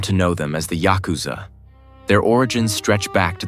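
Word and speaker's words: ヤクザ: The word yakuza itself comes from a losing hand in a traditional card game 893. In Japanese pronunciation, Yakuza, a useless combination worth nothing.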